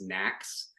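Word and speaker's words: NAAQS: across the the nation these are called National ambient air quality standards which we often pronounce as knacks um pm2.5 is one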